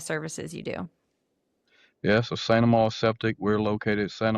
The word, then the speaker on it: Saint Amant: Saint Amant.